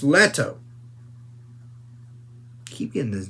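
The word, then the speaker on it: Leto: just letto I mean Paul is it Paul or Le it's letto keep getting his name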